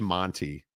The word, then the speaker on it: Monty: And actually, Marty? it's Monty. Monty. It's not Monty or Morty or Marty. It's Monty.